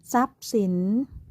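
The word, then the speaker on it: ทรัพย์สิน: ว่า พุทรา ต้อง เรียน สังเกต เห็น ไหม คะ ว่า คำ ทุก คำ เนี่ย มี พยัญชนะ ทร ควบ กล้ำ อยู่ แต่ เวลา เรา อ่าน ออก เสียง อ่าน ออก เสียง เป็น เสียง ซอ ทุก คำ เลย ใช่ ไหม คะ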